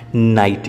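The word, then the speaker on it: knight: आगर जो तमे के जोड़ी दो तो स्पेलिंग बनशे एनो उच्चार नाइट ज थशे, के नो उच्चार नहीं थाय। नाइट नो अर्थ थाय छे योद्धा, योद्धा ने इंग्लिश में नाइट कहवाय छे, नाइट।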